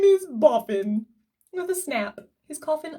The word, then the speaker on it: Boffin: Tim said often boffin boffin rhymes with coffin Jim is that your conference name it is jim cried my coffin name is boffin with a snap his